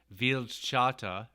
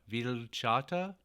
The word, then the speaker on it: Vildhjarta: from the first one i learned the correct pronunciation of their group veal chata ville chata something to that effect uh this next song